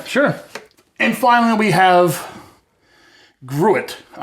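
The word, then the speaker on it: gruit: and finally we have grew it all right i'm going to pronounce it grew it g-r-u-i-t long before hops caught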